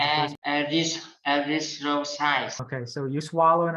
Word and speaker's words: erythrocyte: Okay, so rith. Like good. So rith. Yeah. When you end, yeah. So erythrocyte. Okay, and then you add to it.